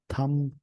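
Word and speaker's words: thumb: Climb, थम, B silent होता है बोलने में।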